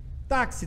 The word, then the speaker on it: táxi: mas tem seis ônibus táxi tem quatro letras mas tem cinco fonema tem um fonema a mais e porque ele tem um problema mais que tenha esse xis que faz então tomem cuidado